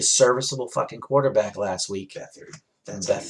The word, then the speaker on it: Beathard: Beathard. That's Beathard. how you pronounce it.